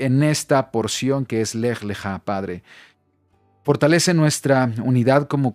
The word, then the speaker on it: Lech Lechá: Es la parashá número 3 y el nombre es la parashá Lech Lechá. Importante, así es como se pronuncia en la fonética, Lech Lechá, y la porción de esta semana comprende desde